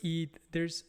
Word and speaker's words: Eid: For example, the Eid celebration. So that Eid celebration, there are two Eid celebrations, and you spell it E-I-D.